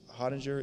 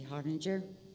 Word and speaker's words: Harbinger: against it thank you so honniger is next and after will have Sean Lewis I feel like I may have gotten your name wrong my name is Harbinger 15-year resident I was